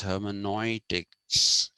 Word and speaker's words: hermeneutics: started pronouncing this as hermenoitics because in in german when you write eu together it is pronounced oi so even the news